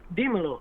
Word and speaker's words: Dímelo: Dímelo, like Dímelo. tell me in Spanish.